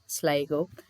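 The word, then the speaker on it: Sligo: So this is ஹவ் you pronounce டோனெகால், Kalve, Mayo, ஸ்லைகோ.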